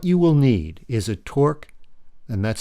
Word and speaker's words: Torx: What you will need is a Torx, and that's spelled T-O-R-X, number 5 screwdriver, and a small Phillips 3.0 screwdriver.